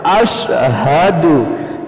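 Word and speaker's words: أشهد: সালাওয়াতু মাতু আসসালামু আলাইকা আইুহান নাব ওয়া রাহমাতুল্লাহি ওয়া বারাকাতুহ আসসালামু আলাইনা ওলাবাদিল্লাহিসহ আশহাদু আল্লাহ অনেকে বলে আশহাদু আশা হবে না আশহাদু আশহাদু আল্লা ইলাহা ইল্লাল্লাহু ওয়া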